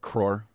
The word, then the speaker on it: crore: Crore. Yeah, CRORE. They say it better. They always crore. Of course, because they have sounds that we don't make, and your mom has sounds we don't make as well.